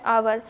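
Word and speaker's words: hour: They waited for हर for dash आवर। अब देखिए यहाँ पे आवर जो हम बोलते हैं वहाँ पे एच साइलेंट होता है, क्योंकि अगर हम एच को पढ़ते हैं तो ये हावर पढ़ाता, लेकिन यहाँ पे जब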